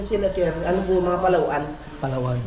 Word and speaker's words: Palawan: taw na o Palawan Palawan pala parang tamang pronounce Palawan ang lugar Palawan ay nasaan Dian yung na